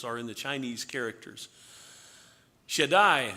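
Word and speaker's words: Shaddai: Shedai is the name as we would pronounce it that the Hebrews that Abraham as a matter of fact uh knew God as.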